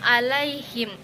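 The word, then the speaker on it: عليهم: Ada hukum tajwid pada kata alaihim, yang mana cara baca bunyi la dipanjangkan dua harokat.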